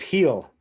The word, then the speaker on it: Gil: Who looked good was Heel. Gil was what everyone was pronouncing it, but his name, you pronounce it Heel, the new Yankees phenom, the prospect who just had a string.